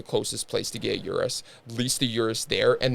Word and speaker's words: Urus: How do you pronounce it? Urus? I think it's Urus.